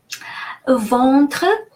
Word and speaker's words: ventre: Ventre, EN, followed by a consonant, is pronounced a nasal A, en. And final E is silent because it doesn't have an accent.